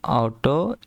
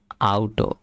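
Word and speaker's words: Auto: যেমন দাস অটো দাস অটো ইস টয়ার ঠিক আছে এটার উচ্চারণ আউটো ঠিক আছে দাস আউটো ইস্টার মানে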